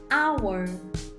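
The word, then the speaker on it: hour: h não o anunciado ele não tem som e o som aqui é de uma vogal ele não foi pronunciado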